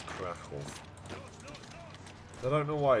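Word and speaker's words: Kraków: It's not Kharkov, it's Krakow.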